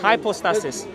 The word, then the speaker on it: Hypostasis: Hypostasis. Do you speak Greek? Underlying reality. Do you speak Greek? I don't speak modern Greek, no. Why are you putting an accent for? That's the way it's pronounced. Hypostasis.